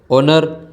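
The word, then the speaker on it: honour: एन ओ यू आर ओनर यह कुछ शब्द है तीन शब्द जिसमें य एच साइलेंट रहता है इनके नाम के आगे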